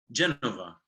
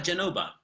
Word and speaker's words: Genova: Yeah, that to me, it's the Italian pronunciation for Genoa. Genova. So with a B, not a V. Ah, Genova.